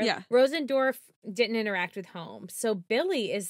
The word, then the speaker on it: Holmes: Elizabeth Holmes home that's I was like wait homes home yeah that's how you say it it's just weird yeah